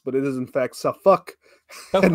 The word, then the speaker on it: Suffolk: Northern accent we came down and we called Suffolk and nor folk as as it should probably be pronounced but it is in fact sauck and nor folk if you're down there yes